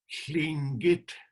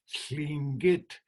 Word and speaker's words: Tlingit: Okay, Tlingit. The air comes out of here, sla, sla. The tongue is up against the front. Our language is a little difficult this way. Tlingit.